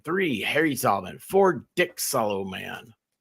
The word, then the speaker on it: Solomon: Harry Solomon four dick Soloman dick solom man that's how he pronounces his name that was a fun